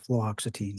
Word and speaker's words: fluoxetine: Fluoxetine.